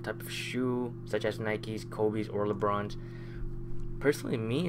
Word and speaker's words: Nike: it like that cuz you're supposed to pronounce the E and I don't really